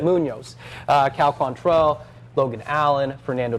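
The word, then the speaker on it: Muñoz: Munoz.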